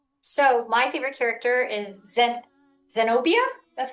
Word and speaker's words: Zenobia: So my favorite character is Zenobia. That's how you say her name? And Zenobia? yep, Zenobia.